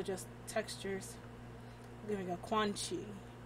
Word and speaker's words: Quan Chi: Although I keep trying not to say it like Squanchy from like, what's that? Rick and Morty? It's Quan Chi, not Squanchy.